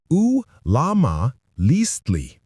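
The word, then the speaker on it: Ullamaliztli: They called it Ulamalisli, pronounced U-Lama-Listli.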